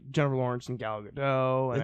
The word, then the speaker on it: Gadot: Not sure if it's Gal Gadot or Gal Gadot. It's Gal Gadot. She's Israeli. No hard T.